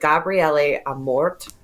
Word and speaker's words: Gabriele Amorth: He was born, I think they pronounce it Gabriele Amorth. No H on the end in Italian, I think.